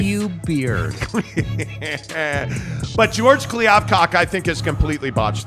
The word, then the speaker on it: Kliavkoff: Yeah, Kliavkoff.